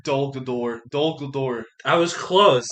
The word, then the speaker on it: Dol Guldur: So like I would say in the middle between middle and end, he's in the cage at Dalmore. Dol Guldur.